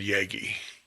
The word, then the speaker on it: Yagi: Yagi, so it has still a wide pattern.